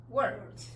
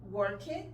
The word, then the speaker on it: worked: Work, worked. Wash, washed. Walk, walked. Entonces, no es stop it, no es work it, no es wash it y no es walk it, porque la letra E es muda.